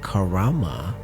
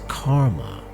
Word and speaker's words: karma: It's not karama, it's karma.